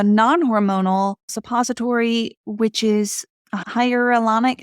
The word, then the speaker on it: hyaluronic: What did work for me was a non-hormonal suppository, which is a hyaluronic. How do you pronounce that?